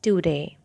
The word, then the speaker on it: Daudet: It's written by the writer Alphonse Daudet. Do not pronounce Daudet because in French we do not pronounce the last consonant, and that's why you have to be careful while pronouncing Daudet. It's Alphonse Daudet.